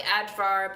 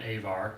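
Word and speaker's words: Ajvar: It's spelled like Advar, but it might just be Our friend called it Avar. Avar.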